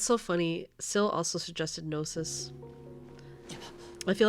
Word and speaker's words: gnosis: how to spell it they'll try to spell it with an N they'll hear gnosis support club and they'll be like n o they'll spell it like noses support Club and while I